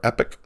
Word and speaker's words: Epoch: two ways I've heard there's actually a British and an American way to pronounce it and the two ways